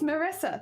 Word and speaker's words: Maressa: I was like oh is it Teresa no it's not Teresa it's maressa thank you so much